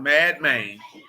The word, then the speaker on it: Madmen: I just want y'all to know that Madman, that's literally how it's pronounced, Madman.